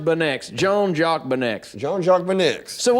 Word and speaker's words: Beineix: It's pronounced Beineix.